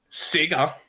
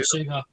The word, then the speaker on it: Sega: What I find amazing is, like, I said this on one of the other ones, Sega I've made a deal with Epic. You said it wrong. It's not Sega. It's Sega.